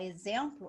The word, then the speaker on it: exemplo: Se você pedir uma criança que está aprendendo a escrever e falar exemplo, ela vai escrever com Z, por conta do som, mas ela se escreve com X.